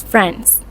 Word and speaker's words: friends: For example, the word friends is pronounced as friends.